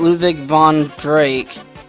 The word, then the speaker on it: Ludwig von Drake: get the best line there and we get Ludwig von Drake yeah this is how you pronounce it okay now there is something I